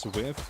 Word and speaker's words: SWF: You're what we call a SWF player. It's pronounced swift.